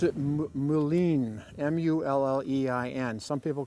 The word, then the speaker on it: mullein: This is, I pronounce it mullein, M-U-L-L-E-I-N.